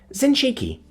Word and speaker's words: Zinchiki: Zinchiki, she supplied. The S got sibilant when it was said correctly.